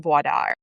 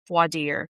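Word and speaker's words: voir dire: So for instance, you start with determining the suitability of someone for jury duty during voad. Voadier. Vadier. What is that? I said voad cuz I've been in Louisiana too long and that's how they say it.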